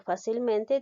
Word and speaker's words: fácilmente: Aquí nos damos cuenta que la palabra o el adverbio fácilmente tiene dos sílabas tónicas, en la sílaba fa y en la sílaba men.